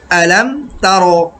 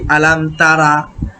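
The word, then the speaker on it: ألم تر: আমি কিভাবে তেলাওয়াত করছি আলাম তার কাইফা আমরা অনেকেই এইভাবে উচ্চারণ করি আলাম তারা আলাম তারা কখনো হবে না আলাম তার আলাম তার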